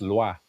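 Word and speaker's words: Loix: It's just Lua. Lu. So, you don't pronounce the X. It has no sound.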